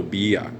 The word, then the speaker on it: Villa: say va it's poncho bia like a b is how we say it okay it's the letter v in English, but in espanol we say bakero panchcho bia.